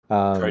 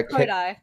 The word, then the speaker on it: Kodai: I kept getting that name wrong earlier. Cody. Cody, yeah, Kodai.